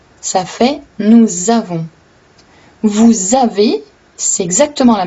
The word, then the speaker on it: nous avons: Quand on dit « nous avons », donc au lieu de lire un S, on lit un S, mais on prononce un Z, parce que le premier mot se termine avec un S, mais le deuxième mot commence avec une voyelle.